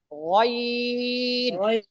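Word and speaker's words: غين: উচ্চারণের স্থানটা দোনটা একই কন্ঠনালীর উপরি ভাগ হতে নির্গত হয় গাইন গাইন গাইন গাইন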